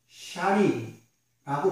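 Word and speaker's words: שני: 여러분, 여기서 이 붉다라는 히브리 단어는 샤린이라고 발음합니다. 구약으로부터 신약에 이르기까지 이 붉다라는 색깔의 표현은 피의 색깔을 이야기합니다. 이 붉은 것은 직역하면 소망을 이야기합니다. 희망을 이야기합니다. 생명을 이야기합니다. 이것이 바로 샤니의 뜻이에요.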